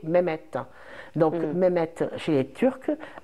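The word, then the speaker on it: Mehmet: Mohammed alors en fait Mohammed c'est une prononciation turque du du prénom Mohammed Mohamed donc le prénom Mohammed a voyagé l'islam a voyagé et chaque population a donné le prénom Mohammed et elle l'a adapté à sa connotation et sa prononciation du coup Mohammed donc le celui qui est comblé de louange va passer chez les Turcs avec une connotation turque qui est mehet donc mehet chez les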